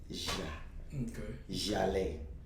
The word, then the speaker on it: Jaleh: But the way it's spelled, because it's spelled with a J, it's JHAL'. So, Jaleh.